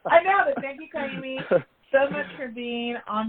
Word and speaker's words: Kaimi: Thank you, Kaimi, so much for being on my podcast, on my show.